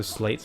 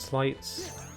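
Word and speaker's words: Sleights: it's a useful attack i say it both ways so slates and slights there didn't seem to be any one like confirmed way pronouncing it as far as i can tell oh dearie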